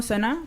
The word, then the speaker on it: Sanaa: acento argentino pero pero bueno acá vamos comenzamos sana así se pronuncia no sé exactamente sana contanos un poco quién eres de dónde vienes qué estás haciendo en salamanca bueno me llamo sana soy de jordania estoy haciendo un máster de